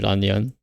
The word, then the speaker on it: Lan Yan: Well, it's probably because the character of Yen is just pronounced like Yan in the Japanese, so that might be why she's Ranyan in Japanese.